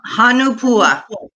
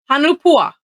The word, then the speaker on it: Hanu Pua: open up and tell make sure i'm doing that pronouncing that correctly yes it's it's hanupua hanupua all right perfect and